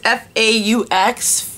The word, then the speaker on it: faux: It's F-A-U-X, Faux, Pearl.